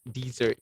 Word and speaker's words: dessert: So if you spell the word with double S like this, only then you would pronounce it as dessert.